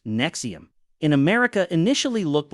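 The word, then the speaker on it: NXIVM: Nexium now for something more modern, NXVM pronounced Nexium in America initially looked like a self-help organization for elites and celebrities.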